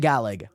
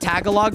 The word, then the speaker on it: Tagalog: how I've been told that's how you pronounce the galag to be fair I pronounced it Tagalog for the longest time and like nobody ever